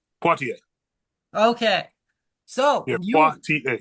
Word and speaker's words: Poitier: Poitier, Okay, so yeah, you.